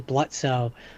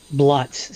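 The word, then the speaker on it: Blitzø: of get past early blutzo bluts sorry the O is silent um that's that's uh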